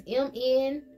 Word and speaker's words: Mnemosyne: It's Mnemosyne.